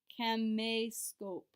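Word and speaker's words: caméscope: accent and remember that when we have an accent that's not like going to change our pronunciation so that e excellent makes an a sound but that's also where the stress of our word is can may scope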